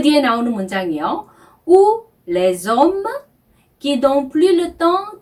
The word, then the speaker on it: les hommes: Ou les hommes qui n'ont plus le temps de passer le temps. 네, 문장이 좀 복잡해 보이는데요. ou는 혹은 또는 이라는 뜻의 접속사입니다. 그리고 les hommes.